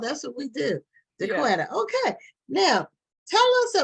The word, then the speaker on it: Jacquita: Now, is your name pronounced Jacquita or Jacquita? It's Jacquita.